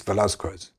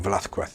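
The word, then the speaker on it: Velázquez: as I know is Velasquez or Velquet if you're pronouncing it correctly.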